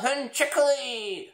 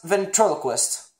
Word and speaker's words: ventriloquist: You mispronounce it. Ventriloquist. It's called ventriloquist.